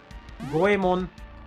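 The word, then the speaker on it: 五右衛門: This word is goemon. Here's the go, here's the e, and here's the mon. What is going on with this character? Well, it used to be read, but its old pronunciation with the sound ue was too difficult, so it disappeared.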